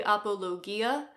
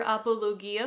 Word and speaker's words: apologia: this is called the apologia and if you think it sounds like the word apology in English you would be right although they do not